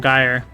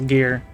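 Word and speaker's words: gyre: I was always calling it in time sper the temporal gyire, but I guess it's supposed to be pronounced a gear because gears.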